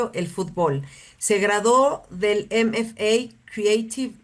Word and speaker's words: fútbol: amamos, que es el fútbol en México. Fútbol, le digo yo, le pongo el acento en la U.